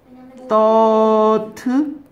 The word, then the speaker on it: thought: think, 이것도 발음 써야겠네요. 이거는 이렇게 써야 되나요? 쌍디귿. thought.